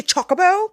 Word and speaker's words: Chocobo: British they say Chocobo like chocolate and I'm like tasty